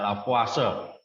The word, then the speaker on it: Lavoisier: Orang Prancis ya, bacanya Lavoisier.